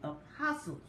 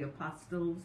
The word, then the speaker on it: apostles: Pope, but on the apostles and the prophets. And I know y'all like to put that T and say apostles, but it's apostles with the T is silent.